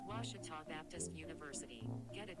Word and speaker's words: Ouachita: washi at baptist university back in texas everybody pronounces it wichita but really it's ouachita washington washington how would you pronounce it it's washita baptist university get it right it's watertall people